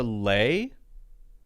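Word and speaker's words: lei: called a lay oh it is a lay okay I was right l-e-i okay I thought so grabbed a lay from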